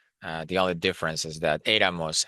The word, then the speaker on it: éramos: The only difference is that éramos has the accent, right, on the E, éramos, because it has three syllables, and the stress still remains on the first syllable, era, éramos.